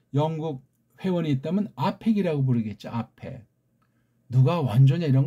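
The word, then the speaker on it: APEC: 누가 원조냐 이런 거 따지기 앞서서 아펙이 변질돼서 에이펙으로 됐다는 거지요. 에이펙은 변질한 소리예요. 아니 A라는 그 알파벳 소리가 이게 아에 해당하는 발음이나죠. 어떻게 이게 A자가 된답니까? 자음도 없는데 무슨 얼어 죽을 소리가 나요. 아팩이라고 해야 돼요.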